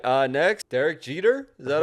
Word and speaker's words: Derek Jeter: Next, Derek Jeter.